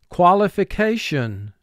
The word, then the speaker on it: qualification: Five syllables. First syllable, qua. Three sounds. First two sounds, qua, a. Li, two sounds, l, I. Fi, two sounds, f, I. K, two sounds, k, a. Sean, three sounds, sh, a, n. Qualification.